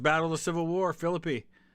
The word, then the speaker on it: Philippi: of the Civil War Philippi that is how it's pronounced uh let's catch up